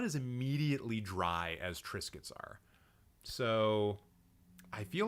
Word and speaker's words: Triscuits: It's biscuits, but with tra in the beginning. Triscuits.